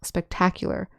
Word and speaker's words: spectacular: Notice that when we say spectacle, the accent is on the first syllable, spectacle. And the adjective form and the adverb form, the accent is on the second syllable, spectacular, spectacularly.